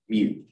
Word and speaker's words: mu: to this one that's the greek mu pronounced mu and for our purposes it just means 10 to the minus 6.